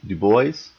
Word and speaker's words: Du Bois: Du Bois, that's how you pronounce his name. Not Du Bois, Du Bois.